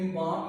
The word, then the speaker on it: embalms: College life with its flower like fragrance still इम्बाम. यहाँ पे student इम्बाम, यहाँ पे EMBALMS, यहाँ पे L साइलेंट है. इम्बाम इस लफ्ज़ को पढ़ना है, फर्द बख्शना जिसे कहते हैं, माई माइंड.